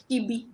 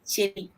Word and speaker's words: Chebi: Some people call it Chibi, but I'm told the original pronunciation is Chebi.